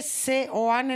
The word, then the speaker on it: Seoane: sean sean se escribe se oane no sé cómo se pronuncia s de Sevilla se s de Sevilla seane seane se escribe seane sí se pronuncia Seoane es que leí el